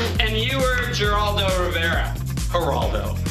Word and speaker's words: Geraldo: you are Geraldo Rivera haraldo but it's got a g pronounce it with a h it's the waste of a g if you had a